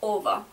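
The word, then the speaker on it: -ого: it is uh spelled Oro but it is pronounced over so can you give some more examples so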